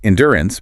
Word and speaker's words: endurance: Conversely, endurance places the heavy stress on the second syllable and dy or ants.